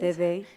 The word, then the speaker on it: Dede: So I read this book last year, and when you were talking about meeting Day, I don't know how to pronounce it. Dede, yeah, Day.